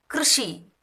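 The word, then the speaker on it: कृषि: இது பார்த்தீங்கன்னா கிருஷி யூ போடாமல் KRSHI கிருஷி கிருஷி கிர சவுண்ட் வரணும்.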